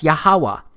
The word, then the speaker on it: Yahawah: wh it's pronounced as yahawah because it turns out that the language was so simple back then that it vocalized each consonant with an a sound without specifically marking that sound between consonants so this YH wh